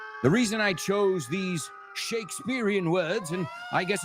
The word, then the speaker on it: Shakespeare: William Shakespeare. And remember what I told you guys, Americans, we pronounce it like it's a B, not a P. So we don't say Shakespeare.